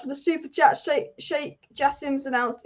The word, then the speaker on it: Jassim: Sheikh Jassim's announced his name is pronounced Jassim, not Yassim.